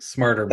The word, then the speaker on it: Smartrmail: about smarter male and correct me if I'm pronouncing it wrong it is smar smarter male that's right okay um is it possible or